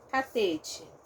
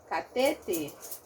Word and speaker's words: Catete: Eu tenho um E, só que na minha pronúncia, esse E, ato no final, se transforma em I, tá? Então, como ele se transforma em I, o T diante do I vira T, vira uma africada, tá?